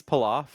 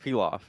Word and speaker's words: pilaf: Wait, you say rice palaf? No. Is that how it's actually pronounced? It's pronounced pilaf.